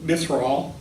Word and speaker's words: Mithril: So I wonder if you could talk to us a little about Mithril. Did I pronounce that correctly?